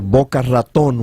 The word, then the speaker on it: Boca Raton: We're coming to you live from Boca Raton, or Boca Raton, which is the correct pronunciation.